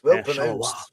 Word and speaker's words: Charleroi: Well pronounced. Charleroi.